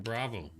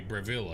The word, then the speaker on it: Bravil: a mage person in bravo sorry bravil i always pronounce it wrong what if we are